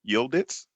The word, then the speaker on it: Yildiz: Our next graduate that we will be recognizing, receiving her Bachelor of Arts in Psychology, Courtney Yildiz. Did I pronounce that correctly? Yes, you did. Yildiz.